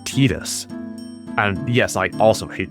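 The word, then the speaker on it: Tidus: His name is canonically pronounced Tetus.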